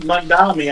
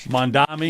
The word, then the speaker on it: Mamdani: And then, of course, in New York, you have that mayoral race with how do you pronounce his name? The socialist guy. Mamdani, I think. Mamdani.